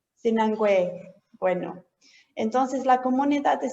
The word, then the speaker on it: Sinangoe: ¿Cómo lo pronuncias tú? Sinangue. Sinangue.